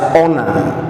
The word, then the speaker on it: honor: one is read as honor you don't read it as fun so in the three words are used as examples you find their assignments on hatch the H in the words is not pronounced that's what I'm saying